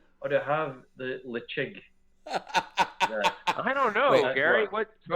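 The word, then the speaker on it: Ledaig: So even though you look at it, you think Ledig. Yeah. If you got to do the correct pronunciation, it'd be Lechig. That's how the locals pronounce it.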